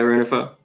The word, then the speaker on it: Rengifo: Yeah, Rengifo.